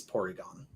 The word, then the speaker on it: Porygon: It's Porygon.